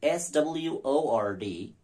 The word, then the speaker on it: sword: See, S-W-O-R-D, sword. W is dropped. Sword, sword. S-W-O-R-D, sword. S-W-A-R-D, sword. See, sword, sword. Absolutely absurd, nonsensical. I have no idea as to why we shouldn't pronounce that W in the word, S-W-O-R-D.